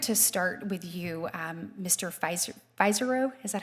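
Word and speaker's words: Pizzuro: Pizaro. Is that how you say it? Pizaro.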